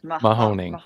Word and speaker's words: Mahoning: you pronounce the name of the river that it crosses? Mahoning. Mahoning?